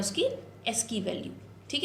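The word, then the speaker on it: ASCII: बहुत सारे बच्चे इसको एस्काई प्रोनाउंस करते हैं, जो कि मैंने भी किया था, मैं भी जब पढ़ रही थी मैं इसको एस्काई पढ़ती थी, बट इट इज़ एस्की characters.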